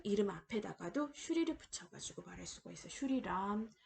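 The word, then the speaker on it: श्री: 자, 보시면은 슈리라고 읽습니다.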